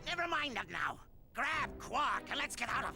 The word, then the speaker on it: Quark: And I just let Google Translate tell me how it's pronounced, and it is pronounced Quark, like exactly like the name, I guess.